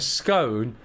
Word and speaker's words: scone: A scone is the correct pronunciation for the spelling s c o n e where the e often referred to as the magic e makes the o sound its name.